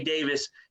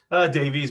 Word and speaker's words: Davies: And today we have the privilege and honor of having Davis. Did I pronounce that right? Davies, but close enough, man.